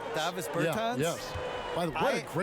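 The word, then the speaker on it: Dāvis Bertāns: Oh, well, now, at this point in my life, it's Davis Bertans. Is that how you say his name? Yeah. Davis Bertans. Davis Bertans?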